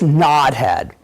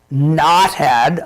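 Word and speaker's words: Nodhead: apples here this Apple here and this is nod head and and in in play mode some people pronounce it not head like KN o th e ad RN o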